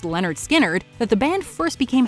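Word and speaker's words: Lynyrd Skynyrd: of this cut off- pronounced Leonard skinnard that the band first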